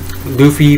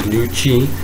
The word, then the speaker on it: Luffy: Luffy pretty much revealing to everyone who has yet to realize that this guy is Luffy, not Lucy, or apparently people, the Japanese pronunciation is Luchi, but it's a very